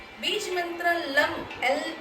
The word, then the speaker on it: लम: बीज मंत्र लम एल ए एम लम लम के उच्चारण के साथ पृथ्वी तत्व से आने वाली